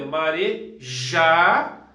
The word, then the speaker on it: marejado: Por exemplo, se você falar marejado, é marejado. Então, no caso aqui, a sílaba mais forte é o já.